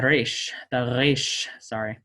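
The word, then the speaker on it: ר: is used with the resh, is to pronounce it like you would a trilled Spanish R. So ara, ara. You may if you want to. I will be pronouncing it as the uvular trill.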